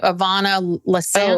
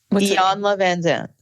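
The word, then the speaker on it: Iyanla Vanzant: Ivana Lasant? Oh, Iyanla Van Zandt.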